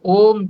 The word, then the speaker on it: ओम: प्रकार से बोल रहे ओ का उच्चारण लंबा ओ का और मैं का छोटा और इसी बात को मैंने स्वयं प्रकाश जी से पूछा था मैंने कहा जी इस ओम का जो उच्चारण है उसमें कितना अंश ओ का कितना मैं का वह कहने लगे न थड इसका और टू थर्ड जो है व मैं का रहना चाहिए क्यों जो है वो